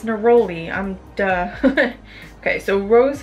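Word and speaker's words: neroli: dead sea salt Epsom salt rose flower petals necrolai Citrus which is Citrus artium Rose uh Jasmine oh it's naroli I'm duh okay so rose flower petals naroli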